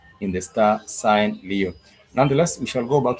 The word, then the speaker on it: leo: For today you would say Leo which is L E O like you see the star sign Leo.